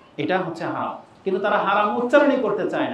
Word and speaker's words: হারাম: কোরআনে কিন্তু হেরেম শরীফ নেই, বাইতুল্লাহিল হারাম আছে, হারাম শব্দটা, কিন্তু তারা হারাম উচ্চারণ করতে চাই না, মানে তাদের জবান দিয়ে হারাম উচ্চারণটা হয়ই না, হেরেম বলে।